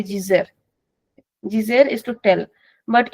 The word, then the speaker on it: dizer: Now this verb can be pronounced as dizer. It can also be pronounced as dizer. It's very common for the Brazilians to pronounce as dizer. Be very careful in that. They're not saying something like Gizer. It is di only, but it is pronounced as dizer, since our di can become g.